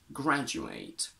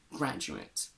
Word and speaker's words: graduate: a and we get graduate but we can also pronounce this a as a schwa and we get graduate what's the difference if